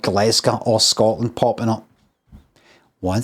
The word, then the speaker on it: Glasgow: They used to say like glass, kind of like glass cow. But with a G. Glasgow.